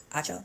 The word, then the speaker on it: Acho: Faraji also is saying that Joy had a relationship with her co-host, Emmanuel Acho, that's how you say his name, and that